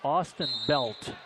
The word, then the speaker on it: Austin Belt: We got to clear something up here, Chris. They're pronouncing it Austin Belt. So we'll go with that pronunciation also.